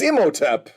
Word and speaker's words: Imhotep: It's Imhotep.